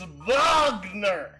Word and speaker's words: Wagner: rain Wagner Sig it's vogner oh vogner and Sig the it's German it's vogner okay okay geez sorry